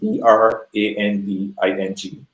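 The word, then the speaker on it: Bhranding: Branding equation right it's b r a n d i n g uhuh plus HR equals B HR a n d i n g so it's still pronounced branding the H is silent but it's a way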